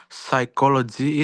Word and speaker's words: psychology: Example, psychology is pronounced without B sound initially.